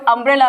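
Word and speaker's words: umbrella: सो यहाँ पे देखिए, ये वर्ड यूनिवर्सिटी है, ये वर्ड अम्ब्रेला है।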